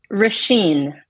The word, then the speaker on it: Roisin: Thank God you said your name, because yes, I know it is not spelled like that at all. No, that's Gaelic for you. Say it one more time for me. Roisin.